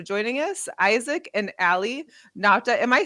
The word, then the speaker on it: Nauta: Isaac and Aly Nauta. Am I saying it right? Nauta? Yeah, Nauta.